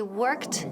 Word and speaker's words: worked: Pero en este caso, la pronunciación de la última letra o sonido al final es T.